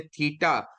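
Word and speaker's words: θῆτα: और प्रोनाउंसिएशन जैसे मैंने आपको कहा है कि थ, जैसे थिंक इंग्लिश का लफ्ज है, तो थ, थ इसकी जो सी आवाज है वो निकलती है, थीटा।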